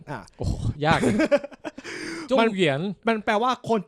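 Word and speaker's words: 状元: หงวน จริง ๆ อ่ะ คำ ว่า จอง หงวน หรือ ภาษา จีน กลาง อ่าน ว่า จง เหวน อ่ะ โอ้โห ยาก เลย จง เหวียน มัน มัน แปล ว่า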